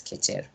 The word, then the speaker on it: Kecha: So the word Kecha or Kecher specifically, it's pronounced as Kecher.